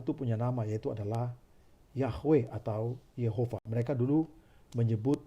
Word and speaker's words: Yahweh: Harusnya adalah Yahweh, bukan Yehova.